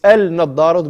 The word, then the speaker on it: النظارة: أين أين النظارة أين النظارة It's النظارة, we don't pronounce the lam, so النظارة أين النظارة أو سعيد يا سعيد.